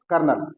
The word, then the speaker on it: colonel: जैसे द कोलोनल, ये कर्नल की स्पेलिंग है, ध्यान देंगे बच्चे। COLONEL, कोलोनल। कोलोनल कर्नल।